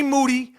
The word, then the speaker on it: Moody: is being started by G Moody last rhymes with Duty and the entire rappa